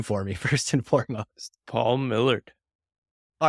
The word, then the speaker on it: Paul Millerd: if not irrationally concerned that I'm saying your name wrong so say your name for me first and foremost Paul Millard all right this is great so I wrote